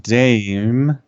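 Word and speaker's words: DxE: vegan activists who identify themselves as members of Direct Action Everywhere Melbourne, which is pronounced DAM.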